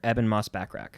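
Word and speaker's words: Ebon Moss-Bachrach: Richie from the bear Evan Moss backrack that's how he say his name to my knowledge I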